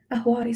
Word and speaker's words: Ahwari: Ahwadi, so it's spelled Ahwari.